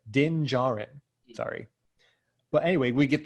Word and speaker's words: Din Djarin: No, the D is silent. Din Djarin.